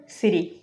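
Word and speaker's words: city: শব্দ হচ্ছে সিঠি তো এটা যদি ফ্ল্যাপিং করা হয় এটা ওরা উচ্চারণ করবে সিরি সিরি উচ্চারিত হচ্ছে সিরি আমরা এটা সেন্টেন্সে ব্যবহার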